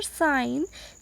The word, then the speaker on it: sign: Sign, G is silent here.